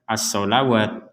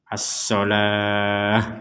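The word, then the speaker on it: الصَّلَاة: Jadi di sini jangan dibaca asawat. Nah, walaupun tulisannya di sini ada huruf wau ini masuknya kepada ilmu penulisan ayat Al-Qur'an tapi cara membacanya tetap asalah.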